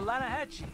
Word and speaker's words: Lanahatchee: The Lanahatchee. It runs right near here. Yeah, but it's pronounced Lanahatchee.